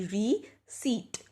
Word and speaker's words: receipt: we see it so you see here the P is silent followed by a soft s like C so the pronunciation for this word would be v seat so looking at example